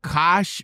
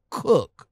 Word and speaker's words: Koch: Now, I thought the name was pronounced like Koch, but it's actually pronounced Cook, right? Cook, yeah.